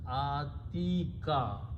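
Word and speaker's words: أتيك: And this ya is written this way, and dhamma is not pronounced, so it is atika.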